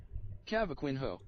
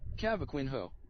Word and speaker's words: cavaquinho: resident Portuguese Dino I can help kaco kaco cavaquinho that doesn't sound right cavaquinho cavaquinho it sounds like I don't I don't